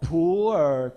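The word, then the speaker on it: 普洱: It's called pu'er cha, pu'er tea. But with your typical intonation, it may become a poor tea.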